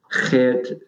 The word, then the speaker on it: Geert: might have heard of, Geert Wilders. And I hope you're impressed out there with my Dutch accent. Geert Wilders. From the Netherlands. We just pronounce it Gert in Australia.